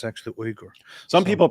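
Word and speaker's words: Uygur: but that's not how it is it's actually uger some people pronounce it yog and they call him yogurt chunky yogurt we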